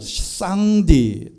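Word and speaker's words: 上帝: 상제 입니다 이게 바로 상제는 쌍 뒤 또는 쌍 다 이라고 읽는 데 이 말은 창세기 17장 1절 과 시편 91 편 1절에 엘 샤다이 라고 하는 전능하신 하나님 과 발음이 똑같습니다 어떻게 이렇게 똑같을까 엘 샤다이 샹 d 똑같습니다 중국의 구전으로 내려오는 대홍수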